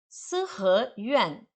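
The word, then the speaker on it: 四合院: Sihe Yuan. Esse Yuan é quarto tom.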